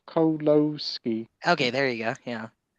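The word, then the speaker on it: Kieślowski: hour long polish film directed by Christoph kolowski kioslowski I think is how you pronounce it yeah I don't mean to be that guy I just wanted it yes he's actually told me here pronounce Christoph coloski okay there you go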